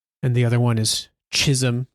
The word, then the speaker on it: Chisum: And I mean, one of their names is Sloan and the other one is Chisum, which Hrix uh lets us know rhymes with Jism without saying Jisom, but he's, you know, definitely creating a character type here.